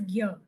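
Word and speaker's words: ज्ञ: So because if you see also it's the combination of g and r here, but still we pronounce it as gyr.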